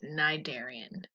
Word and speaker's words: cnidarian: in the phylum nigeria the sea is silent so that's cnidarian so at first glance